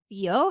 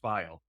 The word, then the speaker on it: Fiel: I know it's recording, but it's actually pronounced file. File. Okay, sorry. No, Yeah. that it's with the way it's spelled, the way you said it is grammatically right, but my family came over, something got miscommunicated, and we're pronouncing it incorrect.